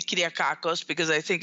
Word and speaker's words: Kyriakakos: right I want them to be able to pronounce my name correctly clear Karkos because I think it's like learning a foreign